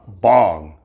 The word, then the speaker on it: Bang: My last name in Korean is also uh Bong which is spelled B A N G like bang.